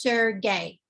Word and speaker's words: Sergey: realize it until right now that it's actually pronounced sir gay so april 23 2006 sergey was appeared in